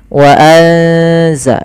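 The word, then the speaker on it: أَنْزَلْنَا: Wa anzalna, ada nun mati bertemu za. Ini kita tidak tulis, padahal di sini ada bacaan ikhfa, yaitu suara apa namanya? Suara nunnya disamarkan ke zai. Wa anza, sambil ditahan bacaan eng-nya atau bacaan gunnah ikhfa, ya, dengungannya.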